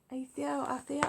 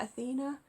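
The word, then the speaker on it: Aetha: my complimentary video so we have atheil i used to call it athena which always happened to me with when i was younger with this mispronunciation of words so athena is the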